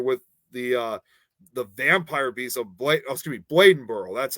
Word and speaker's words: Bladenboro: I'm actually familiar with the Vampire Beast of Bladenboro.